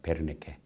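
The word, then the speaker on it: Wernicke: 베르니케. W로 써있지만 이건 독일어식으로 발음하니까 베르니케입니다. 베르니케라는 이분은 바로 이 부분 좌측 두뇌 아까는 여기 앞에 브로카는 앞쪽에 있는데 뒷부분에 이상이 있는 환자들을 분석하게 됐습니다.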